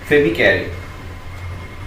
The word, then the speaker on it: Phoebe Cary: See here, A Legend of the Northland, written by Phoebe Cary. Phoebecary. The pronunciation is Phoebe Cary.